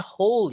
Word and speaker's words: whole: Bacanya whole ya, W-nya enggak dibaca.